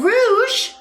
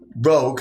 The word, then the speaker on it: rogue: Yeah, and you're a rouge. Rogue. It's pronounced rogue.